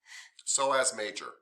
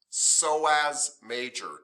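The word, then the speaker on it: psoas major: just pronounced so as so as major i p f PS o yes yes that is pronounced so as major don't say the p p is silent the p is silent so please say again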